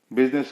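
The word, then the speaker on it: business: बिजनेस, बिजनेस का मतलब होता है कारोबार। बिजनेस के अंदर भी यू की आवाज ई आ रही है, बिजनेस, बिजी।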